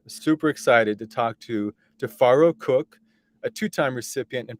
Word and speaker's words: Tifiro: My name is Tifiro. The name is spelled in the African pronunciation with Tifi. So the I's sound like A's, but they're pronounced with I's, spelled with I's, I should say.